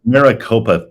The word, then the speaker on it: Maricopa: It's Maricopa County. I was saying it wrong. Mariposa is butterfly.